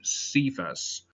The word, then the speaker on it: Cephas: According to the Gospel of John, when Jesus met Simon, the brother of Andrew, he changed his name to Cephas, or in Aramaic it would have been pronounced Kepha.